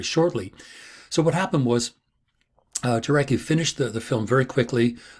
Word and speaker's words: Jarecki: So the person that put the film together, Andrew Jarecki, I think Jarecki is the correct pronunciation.